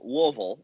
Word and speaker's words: Louisville: First of all, it's pronounced Louisville. You gotta say like you got some like balls in your mouth.